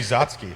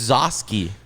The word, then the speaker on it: Zosky: Eddie Zotsky. It's Zosky.